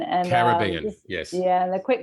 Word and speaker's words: Caribbean: I live in one of the most beautiful islands in the Caribbean called Barbados.